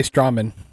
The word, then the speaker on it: Strowman: Remember, you say Strowman. Strowman. Oh, about time you say it right.